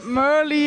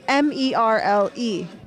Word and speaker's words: Merle: you say your name my name is but merly it's okay that's my nickname merly yeah because it's spelled m-e-r-l-e yes so in in America we'd say Merle yes I know the first time in America my name was Merle at the track and